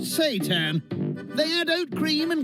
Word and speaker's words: seitan: This is seitan, but some people call it seitan, but we figured we annoy enough people as vegans without cooking devil food, so we call it seitan. But it is pronounced seitan.